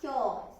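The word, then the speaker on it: 今日: 今日、発音は今日ですね。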